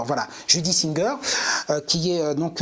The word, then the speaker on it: Judy Singer: à chaque fois, je me cours sur la prononciation, donc je vais arrêter. Judy Singer. Voilà, Judy Singer euh qui est euh donc euh voilà je